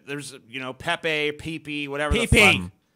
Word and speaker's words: Pepe: copyright infringement lawsuit involving a cartoon frog named Pepe you know it's a pppp pppp it's say